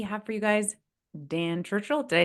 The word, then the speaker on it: Churchill: for you guys Dan Churchill did I say your last name right na it all righton so like how to say it just think of the the Prime Minister of England during a pretty momentous